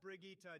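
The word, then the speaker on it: Brigitte: We have Bridget next. It's pronounced Brigitta.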